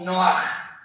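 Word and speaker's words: נֹחַ: Noeé en hebreo se pronuncia como noaj o noa con h al final o con J.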